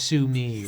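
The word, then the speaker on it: Sume: we're working Keyser su-mei his last name is pronounced Sumi we decided to change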